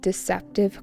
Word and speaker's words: deceptive: But when influencers make deceptive claims, that's when things get dangerous. Deceptive. Deceptive. It's an adjective with an emphasis on the second syllable.